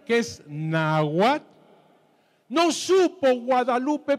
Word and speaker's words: Guadalupe: Bernardino Santa María de Guadalupe padre padre padre padre yo supe que no es Guadalupe sino cuetz Lupe No es cierto No es cierto es